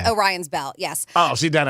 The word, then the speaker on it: Orion: said look isn't that a belt I'm sorry oh Ryan I'm saying it wrong Orion's Belt yes oh see that I know Orion